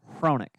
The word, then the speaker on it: Hronek: at Hickett, so I never hear the right pronunciation. If Zane says the right name, I don't hear it. It's Hronik. Hronik? Hronik. Yeah, Hronik? It's Hronik. Are you sure it's not Roenick?